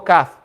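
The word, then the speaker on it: ك: it's quicker to pronounce call for calf wallet will be quicker calf yes that's only the back and cough is the extreme back understand is the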